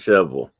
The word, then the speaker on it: Shelbyville: over the country and it's shelbyville but they pronounce it shovel it's a tennessee thing i guess okay it's oviedo i